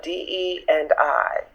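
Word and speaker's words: DEI: a DE and I. That's how people were saying it. I was like, oh, I've been saying it wrong.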